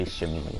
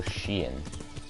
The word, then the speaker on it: Sheehan: Anyways, I was, they always seem, whenever they say my name, you would just say Shamimi for some reason. My name's Sheehan. Sheehan. What in that makes it sound like Shamimi?